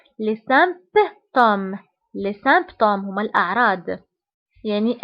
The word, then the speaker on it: symptômes: الأعراض هما les symptômes les symptômes فانتبهوا هنا بي كنطقوها كنقولوا les symptômes les symptômes هما الأعراض، يعني أي مرض كيكون عنده أعراض وهاد الأعراض كيتسموا les symptômes.